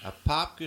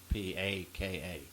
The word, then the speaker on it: Apopka: Ashley, Apopka spelled Apopka, not Apaka.